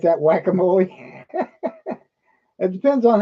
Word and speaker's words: guacamole: That's how they pronounce it down there in deep Texas. Or at least most of them do, I think. Isn't that what they call it down there, Surf and Silver? Guacamole, not guacamole or jalapenos, and not jalapenos.